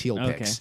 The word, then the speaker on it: HEALPix: this is getting real how do you spell it uh h e a l p iix heel piix so yeah healpix is